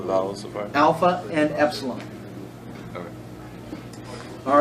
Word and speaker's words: epsilon: Except this is called an epsilon. Can you spell that? E-P-S-O? No, E-P-S-I-L-O-N. E-P-S-I-L-O-N. Epsilon. It's pronounced like a short E. All right, like N. E-N, like end. Like the word end.